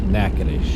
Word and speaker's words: Natchitoches: In case everybody's wondering how to say that name there, it's pronounced Natchitoches.